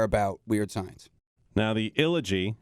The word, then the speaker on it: Illogy: It's like trilogy, but ill. My mind kept wanting to add another syllable in there, like the illology. The illology, yeah. But it's not. It's Illogy.